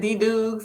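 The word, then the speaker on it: DDuggs: for people to connect uh twitter uh i pronounce it d dukes it's a nickname that i was given in grad school but it's d-d-u-g-g-s uh and the number 11.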